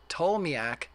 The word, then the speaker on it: Ptolemy: Ptolemy, the P is silent, genius.